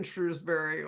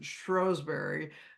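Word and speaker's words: Shrewsbury: and they're very well researched she lived in Shrewsberry or as they pronounce it strowberry um where this Benedictine Abbey was up until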